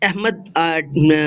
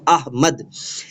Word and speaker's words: احمد: جانب محمد بشارت احمد۔ یہ لفظ احمد معزز اساتذہ اکرام کبھی نہیں پڑھنا، یہ غلط العام ہے، قرآن پاک کا لفظ ہے، درست جو ہے وہ ہجے اور تصحیح کے ساتھ اس کو پڑھا کریں، احمد۔ اچھا جی، اس کے